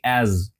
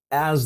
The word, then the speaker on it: as: E essa próxima palavrinha ali, ó, as com a pronúncia de Z, ó, fala assim, as as the bear approaches.